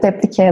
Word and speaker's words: Deplike: As I said, Deplike, that's how we pronounce it in our language, but...